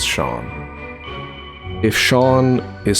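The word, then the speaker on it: Sean: My brain says seen, but I know it's Shawn.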